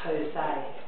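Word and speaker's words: José: So when you're doing Jose, and that's not a H, is it? But that's how it's said, Jose.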